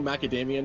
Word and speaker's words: macadamia: My Hero Macadamia Nuts. All right. I got it, Benea. Yeah, listen, Yeah, listen. that's No, it's academia. Like macadamia. Any word that looks like that is pronounced.